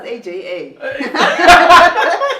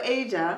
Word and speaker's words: Aja: Is it, how do you say Asia? Is it Asia? Yeah. I thought it was AJA. I really thought it was AJA. I thought it was initials or something.